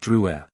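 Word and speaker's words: Drouet: and touching his name it's pronounced Dru our family was French on my father's side she looked at it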